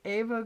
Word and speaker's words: Eva: Um, at any rate, our next speaker will be Ava. I always want to say because of that singer was. And it's spelled Eva, but she says Ava.